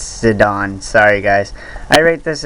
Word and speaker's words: Zidane: exactly like how i accidentally kept saying zidane not zidane it's sedan sorry guys i rate this at 10.